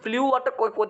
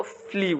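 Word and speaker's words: flew: অফ hot glass একটা হট গ্লাসের টুকরা ফ্লিউ ফ্লিউ কই থেকে আসছে ফ্লাই থেকে কেমন ফ্লাই যদি এ শব্দের সঠিক উচ্চারণ হচ্ছে কি জানো এই শব্দের সঠিক উচ্চারণ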